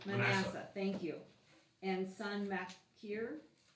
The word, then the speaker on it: Manasseh: Manasseh? Manasseh, thank you.